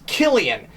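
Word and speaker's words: Cillian: It's Killian, like calamari, or Carrie Fisher, or Caesar, which is the original Latin pronunciation of Caesar.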